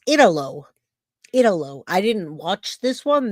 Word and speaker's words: Italo: know how to say his name, so it's Italo. I didn't watch this one. This one came out this morning or last night, and I didn't see it. So he calls himself Italo Brett Jr.